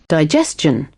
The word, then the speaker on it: digestion: Digestion. If you see, it is said as digestion. So over here it will be STION है तो chan, digestion.